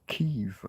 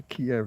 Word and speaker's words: Kiev: Now we've been told we have to say Kev and I don't I don't give a It's a Kiev. It's always been Kiev. It will always be Kiev.